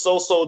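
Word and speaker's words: Soso: me the most was So-So. He a running back from UCLA. His name is So-So Jemabu. Oh, his name is So-So. I thought his name said it's So-So, like it's kind of iffy.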